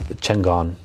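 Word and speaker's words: Chingón: Chingon. But how do you say it? You say it all nice and proper. Well, see, now I'm going to say it wrong. It's Chingon.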